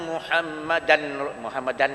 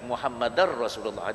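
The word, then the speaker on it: محمدا رسول الله: Dia ejaan dia Muhammadan Rasulullah, tapi Muhammadar Rasulullah. Itu kita belajar hukum, kita tahu Muhammadar Rasulullah.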